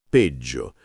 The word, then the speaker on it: peggio: Sulla pronuncia attenzione alla doppia G in peggio. Va marcata bene peggio e di così si fonde di z dolce.